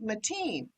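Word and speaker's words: Matine: in riverside california uh while her name is spelled m-a-t-i-n-e it is pronounced mateen can you explain that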